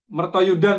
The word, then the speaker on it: Mertoyudan: Iya saya pernah pernah tinggal di Mertoyo Edan. nya ya kalau orangor seminar itu biasa nyebutnya mertoyo edan. Mertoyudan sebenarnya tapi diplesetkan mertoyo edan ya.